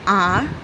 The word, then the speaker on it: hour: For example, an hour, an honor. Over here, in both the words, h is silent.